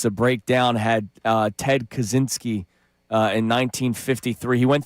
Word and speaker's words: Kaczynski: Kazansky? No, Ted Kaczynski was the Unabomber. That's the Unabomber. Kazanski. Kaczynski.